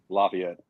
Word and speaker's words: Lafayette: Is it Lafayette or Lafayette? How do you say it? Lafayette. Lafayette. You got You got to do it French style.